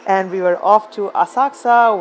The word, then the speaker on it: Asakusa: A quick stop at one of the automated toilets, and we were off to Asakusa with a silent U to visit the famous Sensoji temple.